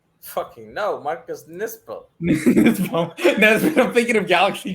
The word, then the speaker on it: Nispel: Or do you take Marcus Nesbitt? Nesbitt? How do you pronounce the last name? Fucking no, Marcus Nispel.